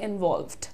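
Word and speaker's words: involved: word use करते हैं इवॉल्वड right pronunciation कैसे ठीक करेंगे इसका इवॉल्वड वॉल्ड एल और वी का ब्लेंडिंग है यहां पर इवॉल्वड ल पे तुरंत व जा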